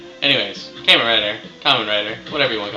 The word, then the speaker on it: Kamen Rider: kicking you i love caiman writer or kamen rider if you want to be all you know correctly pronunciation and all that anyways camera writer kamen rider whatever you want to